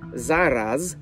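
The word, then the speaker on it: зараз: Zauważcie, że kiedy wymawiam słowo zaraz, to nie mówię zaraz przez S, jak to słowo brzmi po polsku.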